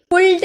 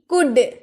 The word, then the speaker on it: could: कुड, COULD, कुल्ड नहीं, कुड। कुड एल हम लोग का ये साइलेंट हो जाता है, तो कुड, कुड का मतलब सका, सकी, सके, पाया, पाई या पाए।